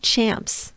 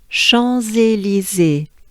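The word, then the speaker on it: Champs-Élysées: champions champs and um try to forget about that because then it confuses your understanding understanding of you or your brain into thinking it's champs and it's not because in french this word means fields right this is referred to the greek um if i yeah if i'm right the greek fields of the elizae so schonze lizzy has nothing to do with champs it just so happens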